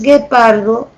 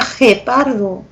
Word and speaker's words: guepardo: G cuando dices guepardo cuando tú dices guepardo tienes que escribirlo así porque si no no sonaría guepardo sonaría gépardo me entiendes sí okay Y